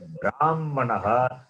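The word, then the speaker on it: ब्राह्मणः: Whereas in the word Brahmanaha, that Hakara also is pronounced as Makara. Yes. Brahmanaha. Or if you don't want to say Hakara as Makara, then you have to read Brahm, then Ha is read after Makara.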